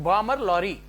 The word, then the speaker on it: Balmer Lawrie: Dear friends, Balmer Lorry, the original pronunciation Balmer Lorry and Company Limited, central government company ఇది British ప్రభుత్వం కంటే ముందు దీన్ని ప్రారంభించారు.